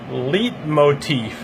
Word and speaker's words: leitmotif: This word is pronounced leitmotif.